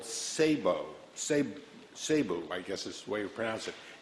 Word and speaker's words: SABEW: Earlier this week, I gave a presentation to an organization called SABEW, I guess is the way you pronounce it, S-A-B-E-W, which is made up of all of the major newspapers and media.